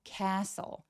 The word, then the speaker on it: castle: 할 때요 stle의 스펠링을 가지고 있는 애들이 거의 다 t 소리들이 날아갑니다. T가 묵음이 되기 때문인데요. castle castle 하면서 길게 강해 주세요.